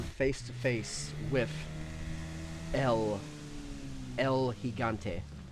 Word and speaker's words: Gigante: Because yeah, we're about to come face to face with El Gigante. I have to stop myself from saying the hard G now that I've learned.